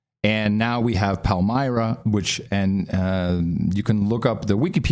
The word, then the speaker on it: Palmyra: It's Palmyra, so I've written it down now, so I can say it right, because we're going to be talking.